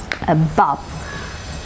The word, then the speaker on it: above: words with weak prefixes stress will be marked on the root word above above okay stress is marked on the second syllable or on the root